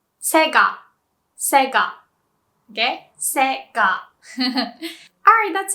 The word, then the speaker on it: Sega: And I heard people say Sega, but it's pronounced Sega.